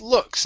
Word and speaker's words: looks: Okay, let's try the same thing with looks. Instead of loo, okay, open up your mouth. Looks. Looks. There, that's the sound.